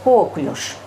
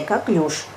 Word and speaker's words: коклюш: болезнь называется как нож мы привыкли в другому дарению потому что это чистый профессионализм врачи называет эту болезнь коклюш на самом деле ударение правильная коклюш в русском языке вообще